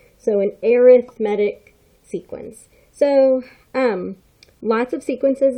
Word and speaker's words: arithmetic: I know it looks like arithmetic, but it's an adjective. So when we say it as an adjective, we are talking, or we pronounce it as arithmetic. So an arithmetic sequence.